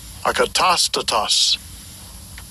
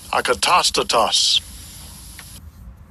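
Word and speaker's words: ἀκατάστατος: And I'll give you a pronunciation. Strong's G182. Akatastatos. Akatastatos. Akatastatos.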